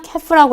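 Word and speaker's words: calf: 그 다음에 예, 송아지 같은 경우는요, 캐프라고 해서 L이 발음이 따로 안 돼요.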